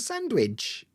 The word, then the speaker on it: sandwich: don't know like sand cuz some people will drop the d in sandwich sandwich it' be like an M sandwich uh but sandwich you you will hear some people say sandwiches um but I don't sandwich it's like a m sound in the middle and how yeah crazy